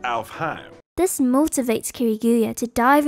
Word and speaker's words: Alfheim: from a game called alph him online alfame online uh actually is pronounced alfheim this motivates kiriguya to